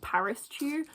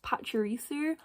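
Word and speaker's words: Pachirisu: one growing up I didn't actually know how to say this Pokémon name so I always just said Paris Che which knowing now it is pisu I don't know where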